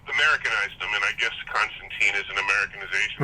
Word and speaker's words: Constantine: with a line like "Tine rhymes with wine," that sort of thing.